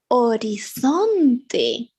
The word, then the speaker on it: horizonte: ah done yeah but it's more important in espanol is silent always silent we have to write it but we don't say anything about it we say Estoria historia we say Horizonte orizante we say hospital hospital